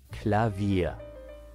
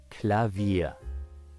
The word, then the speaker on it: Klavier: hammers striking strings let's say it all together clavia one more time clavia now let's split the word into syllables and then pronounce each syllable one by